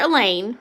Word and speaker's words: Elaine: If I didn't know better, I'd swear Elaine, rhymes with pain, just pulled an A.